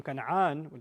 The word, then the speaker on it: Canaan: Yusuf alayhi salam begins his journey outside of Egypt in the land of Canaan or Canaan. And from Canaan, that's how it's pronounced in Arabic, from Canaan, he is able to move his family into Egypt.